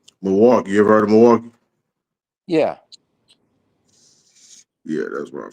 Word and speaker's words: Milwaukee: You ever heard of Milwaukee? Yeah. Yeah. That's where I'm from. Milwaukee. Milwaukee. Milwaukee or how the native people called it, Millio. But that's how they say it.